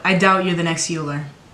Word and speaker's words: Euler: You're smart, but I doubt you're the next Euler. It's pronounced Euler.